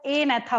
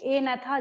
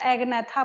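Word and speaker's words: Agnatha: होगा उसको हम लोग ए नेथा बोलेंगे। यहाँ पे क्या होता है, जी साइलेंट होता है। सेकंड वाले में भी जी साइलेंट है और फर्स्ट वाले में भी जी साइलेंट है। ए नेथा जी नहीं बोल रहे हैं हम यहाँ पे।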